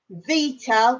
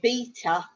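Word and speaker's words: βήτα: And then we have the consonants, Vita, which old school English in maths, we used to call it beta, but it's pronounced V.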